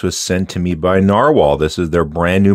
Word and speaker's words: Nahvalur: you think is it navalure or is it still narwhal so I did confirm different spelling but you still pronounce it narwhal because I've heard both